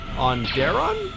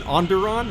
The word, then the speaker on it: Onderon: arc and move to on Dara I know I know I butchered that Onderon is it Onderon is how you pronounce it that sounds more that sounds more correct okay you know I